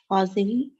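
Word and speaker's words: هذه: It is pronounced hazihi, but the alif is Omitted. omitted in writing.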